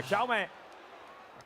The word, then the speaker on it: Jaume: We cannot pronounce Jaume in the same way, and in Catalan way. Yeah, it's Jaume. But Jaume.